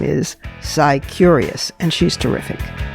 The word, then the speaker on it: Scicurious: Sicurious. That's spelled S CI and then curious. Sicurious.